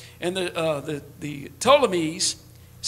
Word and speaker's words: Ptolemies: north of israel and the uh the the ptolemies is how you say it settled in the